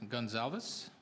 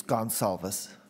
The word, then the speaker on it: Gonzalez: deputation next will be Gonzales I believe that's the pronunciation of the last name thank you it's gone solvus okay so okay thank